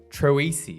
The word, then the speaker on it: Troisi: back again Mr troisi is that how I say your last name you actually said it right say it again Troy